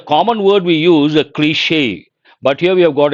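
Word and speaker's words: cliché: But as I said, you got to be careful with this word, cliche. How do you pronounce that?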